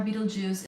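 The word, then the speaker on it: Betelgeuse: compare that if you look at the star Beetlejuice it's going to supernova I mean I meant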